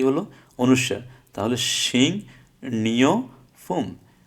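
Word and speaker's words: 식료품: তাহলে শিং নিয় ফুম, শিক রিয় ফুম না হয় শিং নিয় ফুম, অর্থ হচ্ছে খাদ্যপণ্য।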